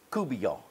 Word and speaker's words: court bouillon: It's called Seafood Couvillion. I want to just educate you a little bit. Now, there's two different terms that you will see. One is called court bouillon, or pronounced couvillion.